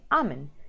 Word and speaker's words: almond: L in the middle so the correct way this correct way to say it is almond so without the L okay so I have